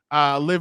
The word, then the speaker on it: Liv: and this one will Liv Morgan. I'm saying it right, not live.